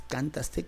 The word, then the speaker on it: cantaste: En la palabra cantaste, ¿cuál es la sílaba tónica? Notarás que es el segmento tas. En caso de que no te des cuenta, vamos a ver, es cantaste, cantaste, cantaste.